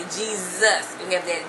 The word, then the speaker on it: Jesus: know in English um our our s's can sound like S as a snake or it can sound like it can be a z sound so that's how we